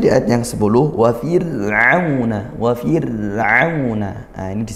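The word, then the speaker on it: فرعون: Maka kita turunkan pangkal lidahnya, fir'auna, bukan fir'auna, itu tebal seperti itu. Kemudian getaran ra tidak perlu terlalu dilembutkan ya getarannya, tidak perlu wa fir'auna seperti mungkin kalau kita di Indonesia pelafalan huruf R tidak seperti itu, wa fir'auna di ujung lidah ke gusi belakang gigi seri atas seperti itu.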